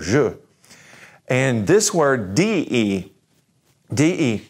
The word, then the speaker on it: je: is this work now remember that J has a shoot sound all right shoot Sam but the e at the end remember how we said that while they're going the alphabet we said uh so guess what this sounds like you've probably already got it figured out if sure sure that means I and so we're not gonna say J or J we're gonna say is